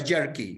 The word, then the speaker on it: jerky: Se pronunciaba jerky y estaba escrito con J, ¿no?